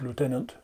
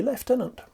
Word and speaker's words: lieutenant: they say that it's pronounced lieutenant in the Navy and it's the Army and the RAF that a leftenant this aside aside we'll